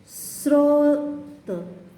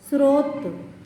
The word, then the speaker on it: स्रोत: ग्रह, स्रोत, स्रोत, स्रोत, देखो स्रोत में स पर लगा है, देखो स पर हलंत है, लेकिन र का जो उच्चारण हो रहा है, र कहाँ लगा है? स के नीचे लग गया है, यहाँ देखो स्रोत।